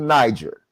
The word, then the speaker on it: Niger: Either way, you can pronounce it Niger, you can pronounce it Niger.